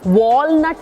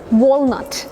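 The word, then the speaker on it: walnut: अब इसके लिए ना मुंह बहुत ज्यादा नहीं खोलना। वॉलट नहीं है ये। वॉलनट। वॉलनट।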